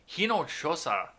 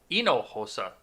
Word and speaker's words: Hinojosa: told the outlets reporter maria hinojosa i'm sorry ino hosa they don't pronounce the h in that language you know i took